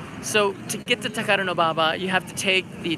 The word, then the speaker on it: Takadanobaba: cheap food there's Takadanobaba station honestly it's called Takadanobaba and I know it's a mouthful Takadanobaba you can see right there it's actually ridiculously